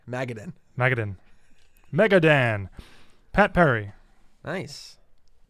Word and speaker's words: Magadan: that word again dave mcadam you put the emphasis on the wrong syllable there magadin magadin megadan pat perry